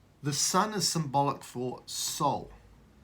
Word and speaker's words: sol: So, what we come to find here is the sun is symbolic for soul. The Latin word for sun is S-O-L, pronounced just like S-O-U-L, soul.